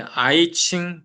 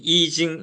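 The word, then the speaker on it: I Ching: 그래서 이게 보통 이제 아이칭 또는 이징 이렇게 합니다. 그러니까 중국 발음으로 역경이 아이칭이나 이징 이렇게 발음이 되는 거여서 예 이게 유교의 이제 그 사서 상경 중에서도 가장 핵심적인 경이고요.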